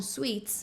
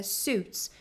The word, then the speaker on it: Suits: de Suits né que as pessoas geralmente falam SS mas é Suits então esse I aqui a gente acaba não pronunciando E aí ele fala